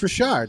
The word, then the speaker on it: Richard: It's not Richard, it's Richard.